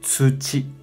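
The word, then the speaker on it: 土: Kunyomi pronuncia tsuchi, tsuchi.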